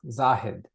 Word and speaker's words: Zahid: And um my first name is pronounced Zahed.